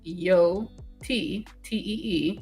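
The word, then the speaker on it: Yōtei: I mean, y is pronounced yot t e with a long o sound.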